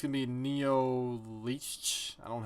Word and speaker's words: Neonlicht: Oh, that's how you pronounce it. Neonlicht.